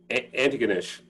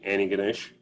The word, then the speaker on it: Antigonish: nap how's it pronounced anti-ganesh and uh you can say it quickly without the t any ganesh and uh but you